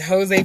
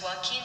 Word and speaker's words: Joaquin: Which, you said his name is Jose Phoenix? Oh, shoot. Look, I saw Jaquan Phoenix.